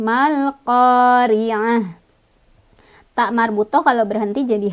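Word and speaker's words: ما القارعة: Ri-nya ro-nya ya, ro tarkik lagi ya, atau ro tipis. Karena ro-nya berbaris kasroh, jadi otomatis ya itu mah. Cara bacanya ditipiskan. Tipis tuh dengan mulut yang agak mundur dan sedikit meringis.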